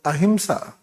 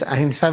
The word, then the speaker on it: ahimsa: This ahimsa we write in this style. In this there is a. How you pronounce it? This is the A, this is the Ha, this is the E, this is Sa.